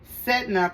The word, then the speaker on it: Sedna: Sedna, pronounced Sedna, is the sea deity of the Inuit people.